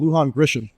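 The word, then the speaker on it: Lujan Grisham: the Biden Administration has imposed on Israel Michelle Luhan Grisham correct thank you first try didn't even have to Wikipedia the pronunciation I don't know they would given you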